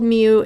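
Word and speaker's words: mu: said Mew it's called Mew and you pronounce it like the kitties meow so we pronounce it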